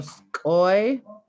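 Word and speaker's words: skʷuy: So skoy, and that rhymes with boy. That was a way to remember. I actually didn't write it in there phonetically, and I'm sorry. But skoy is your mom.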